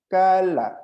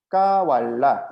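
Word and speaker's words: قال: 이게 왜 그러냐면 와우는 약한 발음이기 때문에 자기의 모양을 지키지 못하고 무너져 버리는 거예요.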